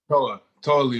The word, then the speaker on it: Toa Liona: Toa Liona. Am I saying it right? Toa Liona? Or is that wrong? Toa Liona.